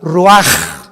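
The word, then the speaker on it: רוח: y exhaló Isaac el Roach así como suena se pronuncia la c en hebreo como J ruaj se le só y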